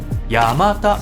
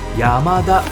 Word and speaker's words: Yamata: YAMATA có nghĩa là 8 cái đầu tức HACHI-KO Làm ơn đừng nói thành YAMADA Phát âm đúng là YA-MA-TA.